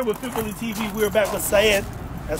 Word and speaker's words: Saiid: We're back with Saiid. That's how you say it, right? Saiid, yes.